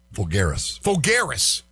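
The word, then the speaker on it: Folgueiras: Alvaro Fulgerns? How do you pronounce his last name? Fulgaris.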